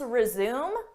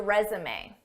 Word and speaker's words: resume: Let's resume with the resume. Resume is a verb and it's used to mean to start again after a pause.